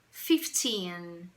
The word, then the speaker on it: fifteen: sílaba né certinho então Observe que eu tenho aqui a o som da palavra fifteen indicação da sílaba tônica por um apóstrofo e Cia a sílaba tônica Ok então atenção para